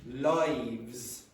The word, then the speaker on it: lives: Okay, now, if I said to you, why is rats pronounced rats, and for example, lives pronounced lives? Why? Why is one of them pronounced with a z and the other one with a s?